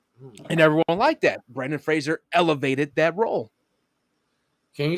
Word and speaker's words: Fraser: he go he goes thanks brandon frazier he goes it's fraser i was going oh